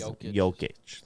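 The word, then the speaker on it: Jokić: Jokic.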